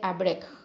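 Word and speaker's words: אברך: Se dice abrek.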